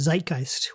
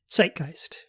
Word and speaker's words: Zeitgeist: like the Germans would, zeitgeist, pronouncing the Z as if it were the letters TS in combination.